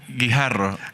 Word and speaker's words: Guijarro: I tried to pronounce his surname earlier on, butchered it. So you can tell us. Guijarro.